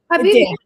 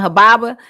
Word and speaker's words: Habibi: Habibi. Habibi. Because I was about to call him Hababa.